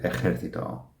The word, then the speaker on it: ejército: Un general en el ejército. Ejército. So notice, not to complicate things further, notice that ejército has a J, but the pronunciation is the same as the pronunciation of the G.